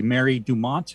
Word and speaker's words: Mary Dumont: Which we mentioned briefly, Mary Dumont. Am I pronouncing that correctly?